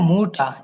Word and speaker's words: Mutter: মাইনে মুটা, এখানে যদি কোনো নোমেনের লাস্টে ই আর থাকে, যদি একটা নোমেনের শেষে ই আর থাকে, আমরা চেষ্টা করব আর মতো করে বলা। ওকে, আরটা এখানে সাইলেন্ট করার চেষ্টা করব।